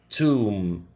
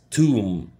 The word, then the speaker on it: tomb: مقبرة Tomb. Tomb, it'll be silent. Tomb.